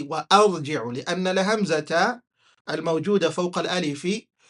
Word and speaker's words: وأرجع: You cannot have it silent. You have to pronounce it as وأرجع. وأرجع. That's how you read.